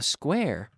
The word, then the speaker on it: square: Now remember, if I say this sentence, a square is square, it's important the S sound, not a square. No, square, square, square. Okay, one square, two squares. Okay, so no E before the S sound.